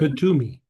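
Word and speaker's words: Kuthumi: He is the master, the Katamuni, how do you pronounce? Kutumi.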